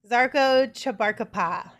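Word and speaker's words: Žarko Čabarkapa: All right, next up we've got Zarko Chabarkapa. Is that how you say it? Yes.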